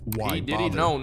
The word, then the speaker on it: Wybather: out as short phrases, like Wybather, which is pronounced Y bother.